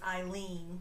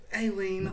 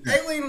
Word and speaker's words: Aileen: bit nervous so and he did pronounce her name wrong as eileen but aileen lee whatever she wants to go